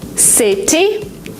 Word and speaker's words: city: In American English, if you have a letter T in the middle of a word, sometimes you pronounce it as D. Letter. ගොඩක් වෙලාවට ට sound එක වෙනුවට ඩ sound එක එනවා. Letter comes as letter. Like water into water. Letter? Because it's faster, because it's smoother. City. You don't say it. City. City becomes city. ට sound එක වෙනුවට ඩ